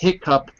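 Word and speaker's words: hiccough: with o u g as well but it's pronounced hicup no matter how you spell it there's my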